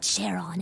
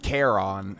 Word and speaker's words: Charon: I think it's supposed to be pronounced Charon, at least as far as I've heard. Because it's based off the, obviously, the thing that, the entity that navigates the River Styx.